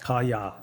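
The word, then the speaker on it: 蚊帳: This is the kaya, pronounced kaya, the mosquito net.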